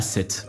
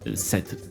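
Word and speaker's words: Sète: Je suis né à 7. Voilà, 7 ben comme un 7 mais ça s'écrit S E T E.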